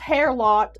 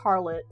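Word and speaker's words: Harelot: But it's not pronounced hair lot. It's pronounced harlot. Just how you would pronounce the regular word harlot.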